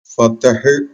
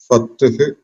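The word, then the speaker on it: فتح: അൽഫത്ഹ് എന്നാണ് അതിന്റെ പേര് അതിന്റെ ഉച്ചാരണം പ്രത്യേകം ശ്രദ്ധിക്കേണ്ടത് ഫത്തഹ് എന്നല്ല ഫത്ഹ് എന്നാണ് ഫത്ഹ് സൂറത്തുൽ ഫത്ഹ് രണ്ടാമത്തെ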